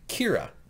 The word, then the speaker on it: Kira: public gets aware of someone named kira ke IRA who is which is based on the japanese pronunciation of the word killer okay which is why I